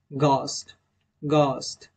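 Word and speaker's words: ghost: में एच है तभी भी को हम लोग साइलेंट करेंगे जैसे की गस्ट नेक्स्ट एग्जांपल गली गली चलिए दोस्तों नेक्स्ट लेटर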